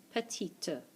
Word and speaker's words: petite: Petit, petite. Petit, petite. Again, masculine is the top one. Feminine is the bottom one. E, we have the E, so we have to pronounce the T.